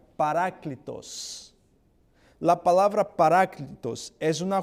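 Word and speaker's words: παράκλητος: Esta palabra en griego, la palabra consolador en griego se pronuncia paráclitos.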